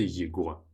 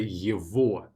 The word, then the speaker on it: его: Two exceptions when it's not at the end of the adjective is его for him. I don't say его, I say его.